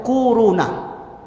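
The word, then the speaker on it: كورونا: Bacanya tuh kuruna.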